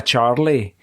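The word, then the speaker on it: Charleigh: Yeah, I once had a Charlie called C H A R L E I G H. Oh, I Yeah, when Lee is sound spelled like that, it's throws me for a loop.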